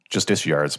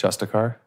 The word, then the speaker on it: Justiciar: And Justiciar's Portal, I think is how that's pronounced. Justicar. There's an I in there. Justiciar?